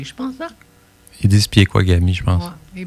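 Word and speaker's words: Pekuakami: Ben, ils mettent un I après le P. Ils le disent à la québécoise. Là. Ah, oui, il y a des différents de prononciation.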